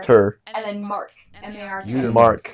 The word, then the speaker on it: Uitermarkt: Uitermarkt. So even though there's a T on the end, it is silent.